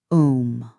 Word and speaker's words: Om: Consider the syllable Om. Spoken correctly, it is not just a single sound, but three: Ah, Oo, blending seamlessly. The Ah vibrates in the chest, the Oo moves upward through the throat, and the hums in